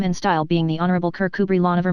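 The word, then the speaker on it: Kirkcudbright: armor, his name and style being the honorable Kirk Kubri Lonover Marjgery Banks sellers Vikcount Berkeley of Cole Mandelly Castle Warikshshire pronounced Kubrith Lanover Marshbanks sellers Vikcount Barkley of Chumly Castle Warikshire.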